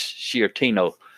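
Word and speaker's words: Sciortino: Michael F shortino Senor I'll spell his last name and hopefully I'm saying it right but it's s c i o r t i n o s c i o r t i n o and I think it's shtino uh so so Mike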